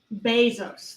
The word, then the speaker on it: Bezos: Bezos. That's how you say it. Okay. Bezos? Bezos. Bezos. Bezos. B-A-Y. Like that. Okay. Bezos. Okay. Yep. B-A-Y. Like it's pronounced B-A-Y.